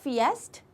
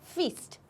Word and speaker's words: feast: जो इसका प्रोनाउंसिएशन है it's simple, it's नॉट फिएस्ट, इट इज फीस्ट, simple फीस्ट।